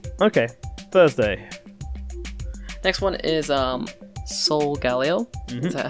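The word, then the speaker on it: Solgaleo: Next one is Sol Galeo. Is that how you pronounce it?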